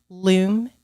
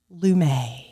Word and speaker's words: Loom: and just to clarify Loom is pronounced Loom it is not Lum there's been some controversy over that Loom you heard it